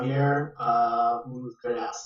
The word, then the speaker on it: Javier Ultreras: So yeah, Javier Ultreras is the pronunciation.